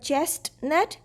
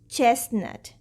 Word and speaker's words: chestnut: We commonly mispronounce this word. It's not chestnut, it's chestnut without T.